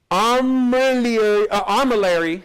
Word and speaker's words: armillary: You didn't pronounce it right. Still not getting it, huh? Armillary, there it is, armillary sphere.